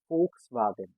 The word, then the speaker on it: Volkswagen: this name is V, but we say it Volkswagen. Very first thing, V sounds as a so Volks and Wagen because A sounds as double A.